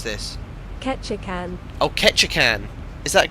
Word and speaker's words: Ketchikan: Presuming that Google knows how to pronounce it. Apparently it's this. Ketchikan.